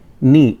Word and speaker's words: knee: घुटने को इंग्लिश में हम लोग बोलते हैं नी। इसमें के साइलेंट रहता है, स्पेलिंग होती है KNEE, लेकिन यहाँ पे के साइलेंट है, प्रोनाउंसिएशन इसका होता है नी।